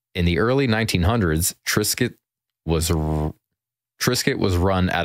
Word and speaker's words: Triscuit: date on there and I'm sure they put the s in it so that you pronounce it Tris because if you had a c instead of you have tricks tricket yeah yeah uhet electricity